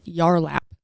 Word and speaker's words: Yarlap: the co-founder of a woman's wellness device called yarlap y-a-r-l-a-p which helps maintain bladder control and tone